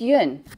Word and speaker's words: Yuen: said miss young Natasha it's UN it's not that hard of a one syllable four-letter word and you seem to